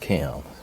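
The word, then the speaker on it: Kem: Maybe it's K E M but still pronounced Kim, which kind of kind of tough.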